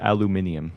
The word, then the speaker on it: aluminium: Yes, it's pronounced aluminium.